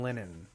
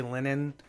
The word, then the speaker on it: Linehan: There's a guy named Graham Lennon, and I say Lennon. It's spelled Linehan, and he's the guy he's made some of the best TV shows in the history of television.